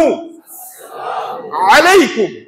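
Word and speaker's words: السلام عليكم: finishing আপনার সালাম এটা শুরুতে হামজাটা আলিফটা উচ্চারণ করতে হবে আসসালা বলেন উচ্চারণ করতে হবেলাম আলাইকুমলে সালাম হবে জীবনে আসসালামু বলেন আলিফটা উচ্চারণ করতে হবে আসসালামু আসসালামু আলাইকুম আইন দিয়া আলাইকুম না আলাইকুম আসসালামু আলাইকুম বলেন আলাইকুম শুদ্ধ করে বলতে হবে আসসালামু আলাইকুম অনেকে বলে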